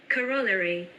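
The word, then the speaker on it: corollary: Coro Wait, I have I have to look up how this is pronounced. Corollery.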